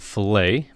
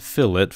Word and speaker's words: fillet: super handy tool called fill it some people pronounce it filt but it's meant to be said fillet as Fila just makes me hungry for fish so I'll